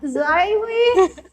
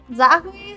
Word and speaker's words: Zahui: I sounded like Zaihui, but like apparently it's Zahui.